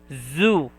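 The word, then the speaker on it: ず: If you will put a 1010, it will be pronounced as zu, zu.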